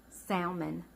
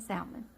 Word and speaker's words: salmon: on more than anything salmon yes and yes I pronounce the L in salmon many have tried to